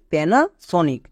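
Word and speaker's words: Panasonic: চলো এবার উচ্চারণ করো পি এন এ পেনা next S ও এন আই সি সনিক পুরোটা কি হলো পেনাসনিক এবার এখান থেকে বুঝতে পারছো এ শব্দের শুরুতে পড়লো তাই এর জন্য জো ফলা আকা এ হলো এবং এখানে দেখো এ শব্দের মাঝে আছে তাই এর জন্য আকার রয়েছে যেমন প্যানা সনিক এই ট্রিক্সটা খুব ইম্পর্টেন্ট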